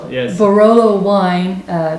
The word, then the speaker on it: Barolo: and it's the the borello wine right did i say that right no no it is barolo yes barolo wine uh it's red